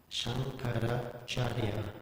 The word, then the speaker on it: Shankaracharya: When there's a C, it's pronounced ch. What? When there is a C, Yeah. it's pronounced ch. Okay, it's a C. Okay, thank you. Okay. Then it's Shankaracharya.